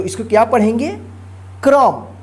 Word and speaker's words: कर्म: उच्चारण होता है, लेकिन जिस पे इस तरह से लगा रहे रेफ की मात्रा, तो ये जो है ना जिस अक्षर पे लगा रहता है उस अक्षर पे उच्चारण नहीं होता है। उस अक्षर से पहले जो है ना जो अक्षर रहता है उस अक्षर के बाद जो है ना आधा र का उच्चारण होता है, जिसको पढ़ेंगे कर्म और इसको क्या पढ़ेंगे क्रम।